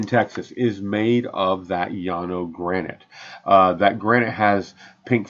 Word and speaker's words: Llano: And so so here is the Llano granite. Along the Llano River in Llano, Texas. That's spelled L-L-A-N-O. Two L's make a Y in Spanish.